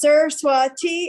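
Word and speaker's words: Saraswati: for hennepin county attorney my name is pronounced sir swati and my last name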